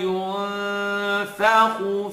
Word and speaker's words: ينفخ: So it's not going to be at yunfakhu, tongue touch. Yun, it's going to be tongue not touch.